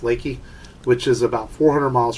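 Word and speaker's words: Leakey: It's spelled Leaky, but it's pronounced Leaky, which is about 400 miles from here, out in the hill country of Texas near Garner State Park.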